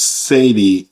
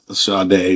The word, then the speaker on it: Sade: So I just played a couple of and it's Satie. Um, not Shardai, Satie Perkins.